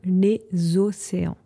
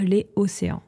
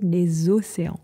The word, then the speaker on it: les océans: niveau de la prononciation, vous devez dire les océans. Vous ne pouvez pas dire les océans. You cannot say that. Les océans, c'est bizarre. On dit les océans. On fait donc la liaison.